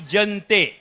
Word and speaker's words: Jaentique: Nama syarikat tu Jentik. Sebutannya Jentik. Ejaannya JAENTIQUE. Jentik.